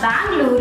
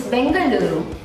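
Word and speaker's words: Bengaluru: vishakapatnam it's not pandam it's tandur it's not Bangalore it's bangaluru and it's not Kolkata it's Kolkata all these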